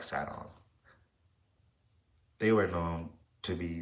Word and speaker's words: Sidon: such as Ty, Biblo, Sidon, and Carthage. Or maybe that's pronounced Sidon. I like Saon.